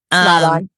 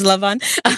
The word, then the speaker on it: Laban: more specifically into Oh gosh, I'm going to mess up the pronunciation into the um Leon. Yes, Lavon.